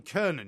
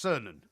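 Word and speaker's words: Cernan: correction for you here Jean Kernan you were talking about is pronounced cernon okay I knew that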